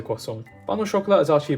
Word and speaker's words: croissant: For example, it would be quite strange if you said, "Oh, can I please have a croissant?" instead of "Can I please have a croissant?" Even though in the French accent you say croissant.